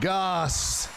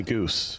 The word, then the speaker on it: Gosse: Because I don't know, with the silent E in there, that's very Canadian. You nailed it. Most people call me Goose.